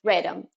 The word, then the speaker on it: Radom: Radom Network, Radom. Oh, but like Radom Network. Radom without, random without an M, we sometimes say.